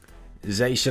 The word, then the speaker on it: Zacian: Zacian, I believe that's how you pronounce it.